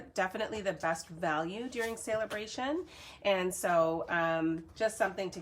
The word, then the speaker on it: Saleabration: call it Saleabration, and I'm seeing sale, S-A-L-E, Saleabration. So I wouldn't even know, like, I would imagine that's how it's pronounced, but I have heard other people pronounce it Celebration, which it just doesn't feel right to me.